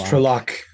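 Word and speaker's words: Trolloc: gonna find out yeah how do you say TR trock it's trock that's Southern Scottish would say it yeah oh man man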